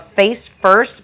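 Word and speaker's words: Furst: It's called Face First, but it's spelled F-U-R-S-T, not F-I-R-S-T.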